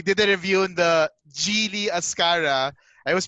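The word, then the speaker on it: Geely: of ways uh and the brand was actually genie or gili or whichever yeah yeah yeah oh yeah i was scored i was corrected by the gili guys so we did a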